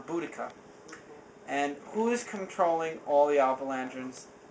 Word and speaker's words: Boudica: I try to pronounce her name well. It's Boudica.